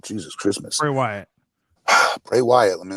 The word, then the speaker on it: Bray Wyatt: light that uh way used to perform uh way bryatt did I say it right Jesus Christmas Bray Wyatt Bray Wyatt let me not reverse his name